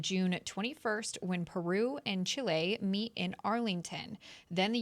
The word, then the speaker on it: Chile: She knows how to pronounce all the countries' names. Chile. Chile. Like that. Thank you. It's not child.